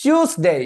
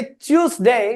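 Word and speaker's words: Tuesday: करके देख लेना भैया यूके में इसको कहेंगे ट्यूजडे ठीक है और यूएस में इसको कहेंगे ट्यूजडे ट्यूज ट्यूजडे ठीक है ट्यूज डे नहीं होता कभी भी डे डे डे कहना बंद करो ठीक है और उसके बाद आप कहो हां यूएसए ट्यूजडे और यूके में क्या बोलेंगे ट्यूजडे ट्यूजडे आप कभी भी देख लेना वो टी का इस्तेमाल नहीं करेंगे ठीक है अब इसको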